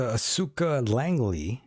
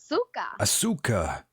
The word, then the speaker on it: Asuka Langley: By the way, Vanessa, Asuka Langley, I think I'm pronouncing that correctly. Asuka.